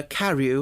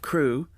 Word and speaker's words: Carew: Madame Pascal pronounced it as if it were Carew instead of Crew, but that might be merely a matter of pronunciation.